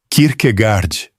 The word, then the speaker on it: Kierkegaard: A sílaba final em dinamarquês é escura, arredondada, quase engolida, com aquele travamento na glote que a língua tem e quase nenhuma outra na Europa tem. O inglês ouviu ali um gard, que não é